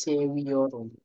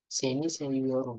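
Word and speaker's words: seviyorum: t w y z contoh nih ya contohnya misalnya seni ini contoh aja seni sewiorum seniwiorum jadi Jadi kalau V di dalam bahasa Turki di bahasanya W Fe itu di dalam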